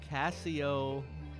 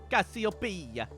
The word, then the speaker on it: Cassiopeia: How do you pronounce that? Cassiopeia? Paya? Cassiopeia.